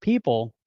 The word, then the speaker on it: Pyypl: See, it looks like Paypal or people, pronounced people.